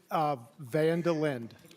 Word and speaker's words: Van der Linde: How would you like, I keep thinking of Seinfeld and Vandalay Industries, so you got to give me the right pronunciation. It's Vandelin.